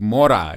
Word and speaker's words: Mora: Well, you have the pronunciation on that very good. It's like Mora. You said it right.